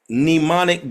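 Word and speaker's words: mnemonic: on what they call nemonic devices nemonic devices nimonic devices pneumonic is spelled the there's an silent M pneumonic is spelled like m n e m o n i c pneumonic devices pneumonic devices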